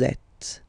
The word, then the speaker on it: êtes: Vous êtes, same thing here. Notice that final S is not pronounced.